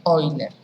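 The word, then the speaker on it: Euler: hoy sería el 1 creo que es alemán si no me equivoco y se pronuncia hoy entonces cuando ustedes tienen en el escrito hoy así se lee oyler vamos vamos diciendo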